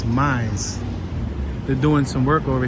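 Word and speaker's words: Mies: All right, we're on Chestnut Street, North Miles Van Der Rohe. Look at how it's spelled. Or North Mize. It's not even miles, it's Mize.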